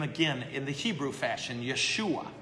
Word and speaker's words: Yeshua: But they would have called Jesus Yeshua. That's how you say his name.